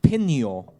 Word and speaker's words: Pinho: In Portuguese, isn't it pinho? Pinho. Yeah, so pinho. Yeah, Well, I don't get it. No, the H is silent in English.